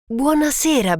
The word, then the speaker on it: buonasera: Buonasera, Ben. Buonasera. Good evening. Buonasera. Next is Ben's name pronounced in Italian.